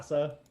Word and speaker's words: Thassa: How do I pronounce it? Did I do that right? Thassa?